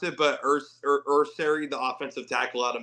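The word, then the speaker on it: Ersery: I don't know how to pronounce it, but Ursary, the offensive tackle out of Minnesota. Yeah, So, Ariante Ursary.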